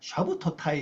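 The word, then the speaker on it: שַׁבְּתוֹתַי: 안식일들을이 복수입니다 요것이로 식인데요 히브리말 발음하면죠 샤부 샤부 토 타이 샤브 토타 이입니다 샤브 토타 여기 파 짧아 이거 단모 음이라 샤브 토 타이 이렇게 발입니다 샤브 토타 샤브 토타이를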